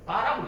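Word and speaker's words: bar: 찍, 요 찍 이거를 영어로 영어로 있더라고 사람들이. 빠라고 읽어요. 빠. 그래서 2-3i의 빠가 뭡니까?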